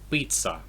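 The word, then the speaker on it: пицца: So this is pizza, like in Italian. Because we use a Z in English, even because the Z is used in Italian, because the Z is a ts in Italian, but it's not a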